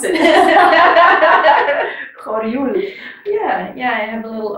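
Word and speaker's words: Horjul: How will you pronounce it? Horul.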